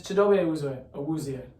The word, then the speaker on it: Chidobe Awuzie: I don't know how to pronounce it. Let me pull it up right here. Or something like that. It is Chidobe Awuzie. Chidobe Awuzie, he was out for most of last year.